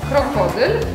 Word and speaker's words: krokodyl: Tak, czyli akcent. Tak. Ko, na ko, tak? Na tą sylabę środkową. Krokodyl.